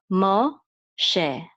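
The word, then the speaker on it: משה: It is to say that this letter is a shin instead of a sin, and it's also to say that the vowel that goes after the mem is an o sound. So this is Moshe, Moshe.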